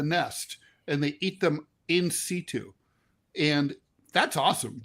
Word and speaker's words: in situ: and they eat them in situ. And that's awesome. Incaitu is what the doctors told me it's pronounced.